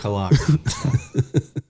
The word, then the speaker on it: Cologne: I believe it's pronounced Kogney. Is it Cologne? Cologne.